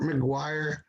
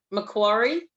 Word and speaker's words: Macquarie: I want to say hi to Amber Champagne from Port McGuire, Australia. Did I pronounce it McGuire? Macquarie, Oh, okay. Glory, Port welcome. Macquarie.